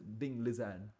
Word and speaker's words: Ding Liren: Is it gonna be Ding Liren, or rather how you call it is Ding Lizan? That's how he says you pronounce it.